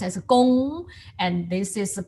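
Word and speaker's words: 工: This is pronounced as gong, and this is pronounced as a kong.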